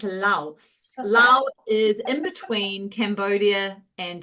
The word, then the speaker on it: Laos: So the plane of jars is in a country called Laos, and a lot of people say Laos, but the S is silent. It's Laos. Laos is in between Cambodia and Thailand, and then Vietnam, onto the east coast of Southeast Asia.